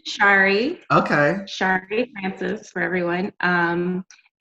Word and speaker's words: Shari: Like, is it Shari? Like, what's the right way to say it? So my name is Shari.